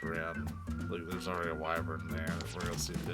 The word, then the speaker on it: wyvern: I'm saying wyvern weird because that's how it's pronounced in this game. I understand that it's wyvern, but they like wyvern.